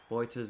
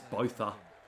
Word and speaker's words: Botha: I think that's how you pronounce it in Afrikaans. Sometimes Australians butcher it as Botha because we're very uncultured and don't like pronouncing anything that's too difficult. But I believe it is Boita. But I could be wrong.